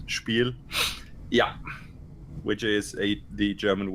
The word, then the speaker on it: Spiel: in Germany depends on if you're going to pronounce it like I guess like an English speaker would like spiel or as we Germans call it spiel yeah which is a